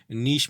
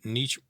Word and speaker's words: niche: बहुत छोटी मार्केट जो होती है इसके लिए हम एक टर्म यूज़ करते हैं, नीश मार्केट, NICHE, या नीच निच भी मैं कहते हैं जी, दोनों प्रोनाउंसिएशंस एक्सेप्टेबल हैं।